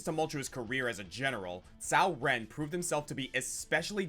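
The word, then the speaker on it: Cao Ren: if all three we find the induction it's pronounced in history sauren is a major badass serving in the Eastern Han Dynasty under his second cousin over his tumultuous career as a general Sao Ren proved himself to be especially dangerous in defensive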